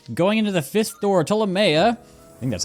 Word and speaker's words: Ptolomea: As we are going into the fifth door, Tamea, I think that's how you say it. I'm assuming the P is silent, like pterodactyl.